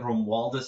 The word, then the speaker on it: Romualdus: Romualdus is how you would pronounce it, but you can just call me Rom.